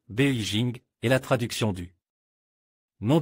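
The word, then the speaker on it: 北京: Beijing que nous ne connaissons pas encore très bien et Beijing en chinois et se prononce Beijing est la traduction du nom de cette ville n'est pas trop compliqué capitale du nord.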